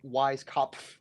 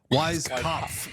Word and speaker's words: Weiskopf: It's Weiskopf. Weiskopf. There is an F at the end.